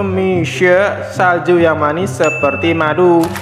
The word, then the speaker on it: Mixue: bermain Tower ini itu dibacanya Miso ya guys ya dibacanya Michele dalam bahasa Mandarin me artinya madu dan se artinya salju diambil dari kata Feng Me yang artinya manis diambil dari kata tiang mie jadi kalau digabung itu mishare salju yang manis seperti